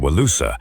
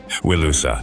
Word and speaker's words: Wilusa: Repeated references to a place called Wilusa, a vassal kingdom on the western edge of their empire. Wilusa, sound familiar? Yay! Linguistic analysis suggests this is the Hittite pronunciation of Ilios, Homer's alternate name for Troy.